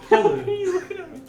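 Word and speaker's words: Kelu: I said it was K-E-L-U, alright? So it's Clue. K-E-L-U. Clue.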